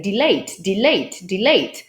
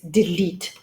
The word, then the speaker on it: delete: For example, many Polish students constantly say delete, because you have the word late in there, or at least they think it's the word late. And when they look at the word, they think, aha, we say late, so this word is probably going to be delayed. Well, it's not, it's delete.